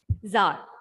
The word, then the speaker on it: Tsar: Tsar, Tsar. Okay, the T we are not pronouncing here.